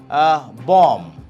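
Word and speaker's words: bomb: এখন আমরা কথা বলবো সাইলেন্ট বি, যেখানে যে শব্দগুলোতে আমরা দেখতে পাই যে বি ইজ not pronounced, like বম। আমরা জানি বম, বমিং, বাট বম্বার্ডমেন্টস।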